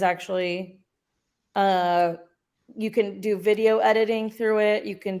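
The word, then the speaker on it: Vidyo: few different sections uh video dot AI but you spell it b-i-d-y-o um that's one that's the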